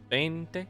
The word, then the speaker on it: veinte: not yanking my chain the word for 20 is bente now you try we'll